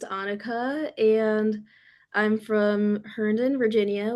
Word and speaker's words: Anika: Anika. Hello, it's actually pronounced Annika, and I'm from Herndon, Virginia, which is near the DC area.